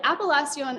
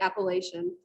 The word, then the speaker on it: appellation: distinctive flavor so an appalachian of origin and i've used the french pronunciation but you can also say appellation appalachian of origin is